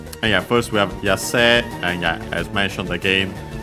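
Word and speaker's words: 野生: And yeah, first we have Yase, and yeah, as mentioned again, by the way, the usual E, usually pronounced as long E nowadays, some still pronounce it as A.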